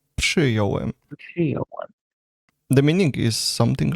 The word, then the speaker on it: przyjąłem: It should be przyjąłem because there is RZ is pronounced as ż. But after P, it would be very hard to say. Przyjąłem. So it's actually correct to say it in the simplified form, which is przyjąłem.